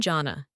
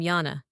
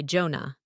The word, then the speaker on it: Jonna: Hi, I'm Janna. English. Hi, I'm Janna. Nordic. Hi, I'm Jana. Common mistakes. Don't say Jonah. That's Jonah. and keep the stress on the first syllable.